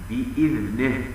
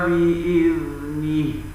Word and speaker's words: بإذنه: كما أنهم يميلون حركة النون من بإذنه فينطقونها بإذنه، بإذنه، وهو خطأ، والصواب إلا بإذنه.